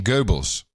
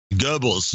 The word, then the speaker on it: Goebbels: get a real accurate print that's the accurate pronunciation Goebbels Goebbels Goebbels yes yes nobody knows were you talking about